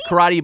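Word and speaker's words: Karatti: It's Karate, but it's spelled with a T-T-I.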